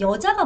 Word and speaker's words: vợ: 거기다가 여러분 남부분들은 아실 수도 있겠지만 남부는 V를 V 발음도 하지만 여 발음도 해요. 그래서 여 chồng, 여 chồng 요렇게도 발음한다.